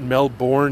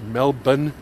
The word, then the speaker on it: Melbourne: And hasn't everybody been to Australia and knows that it's not Melbourne, it's Melbourne?